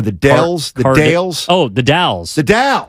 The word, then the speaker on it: The Dalles: Dells The Dales oh The Dalles the Dow it's spelled it sounds like Dallas right what is that so the dowels is just a town it's called the but it's the Dallas it's right on um